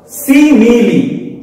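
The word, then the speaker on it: simile: देखिए सिमिली क्या होता है, स्पेलिंग देखिएगा, गौर कीजिएगा स्पेलिंग। सिमिली, स्माइल नहीं, सिमिली एंड मेटाफर, ये दोनों जो है ना कंपैरिजन के लिए यूज होते हैं।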